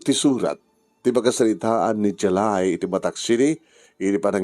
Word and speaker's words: Jelai: Di surat ganyan tayo ba sa padaanan nyo, ti pagkasalitaan ni Jalay. Ano pa naman pronunciation na niya? Jalay. J-E-L-A-I. Jalay.